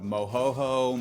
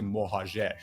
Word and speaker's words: Mohajer: They usually go with some variation of Mohoho, Mojaja, Mohajer, Mojaja, Mohajer is the kind of the closest, and I actually even say it wrong. It's technically Mohajer, but I say that's which is what I said. Yeah, but I say just Mohajer.